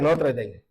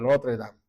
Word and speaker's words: Notre Dame: Y la otra, que es la de Notre Dame, ¿ok? O Notre Dame, como usted quiera pronunciarlo, ¿ok?